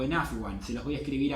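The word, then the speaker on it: عفوًا: Y con las 28 letras del alfabeto árabe, sí o sí se agrega el alif, que no se pronuncia.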